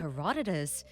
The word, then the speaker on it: Herodotus: Herodotus, so that's how you pronounce it. Herodotus.